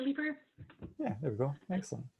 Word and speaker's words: Leaper: I think I've pronounced your surname correctly, but do correct me if I'm wrong. Is it Leaper, Head of Community Outreach at Bike for Good? Was that even close? Yes, Leaper.